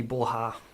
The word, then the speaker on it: Borja: it Oh unlucky unlucky borja and what ha that's how you pronounce it because it's Spanish it's probably going to